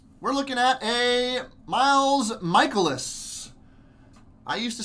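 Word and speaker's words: Mikolas: looking like here we're looking at a Miles michaelis I used to say Nikolas until recently on MLB the show I heard him pronouncing at michaelis is that it's pronounced yeah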